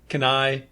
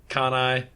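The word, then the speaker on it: Cannae: not a joke uh I believe that's how it's pronounced c n n AE Kane canai Kanai I think I think I've heard can I but for purposes of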